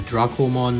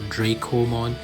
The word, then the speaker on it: Dracomon: And why do I pronounce Dracomon, not Dracomon?